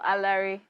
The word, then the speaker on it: Alaere: wow they're a lyric alert is how you pronounce this name right no a larry a larry okay i always said i will